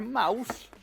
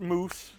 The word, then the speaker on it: Mous: you have a little logo there Mouse it's not pronounced moose but you can see